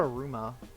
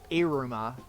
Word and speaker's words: Iruma: So how about Aruma? What's Aruma? Iruma. Iruma? Oh, Iruma. That's how you pronounce it.